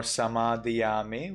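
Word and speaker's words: samādiyāmi: Notice it is no more samadhiyami, which is Sri Lanka pronunciation. It becomes tamadiyami in Burmese.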